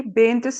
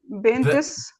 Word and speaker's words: paints: You put, it's paints. Say it like that. Again. Yeah. Yes, paints, much better. Because when you say, when you have T and S, you have a small pause.